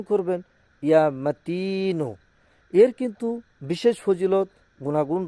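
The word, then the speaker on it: يا متين: সঠিকভাবে উচ্চারণ করবেন। ইয়া মাতিনু।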